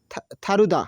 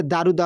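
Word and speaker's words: 다르다: দূর খাদ্দা মানে একই থারুদা মানে ভিন্ন থারুদা এটা দারুদা হবে না থারুদা উচ্চারণ হবে থ উচ্চারণ করে এটা দীর্ঘদের উচ্চারণ থ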